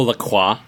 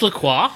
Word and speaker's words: La Croix: Oh, La Croix. Whatever it is. Is it pronounced La Croix? Really? I think in America it's pronounced LaCroix, but in French, La Croix, it just means cross.